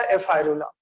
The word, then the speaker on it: ephyrula: Aurelia के larva की spelling है एफायरा, EPHYRA, EPHYRA, EPHYRULA, एफायरा या एफायरुला।